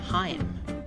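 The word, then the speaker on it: Haim: band whose guitar player is in licorice pizza pronounces its name heim kiefer sutherland will be playing fdr in the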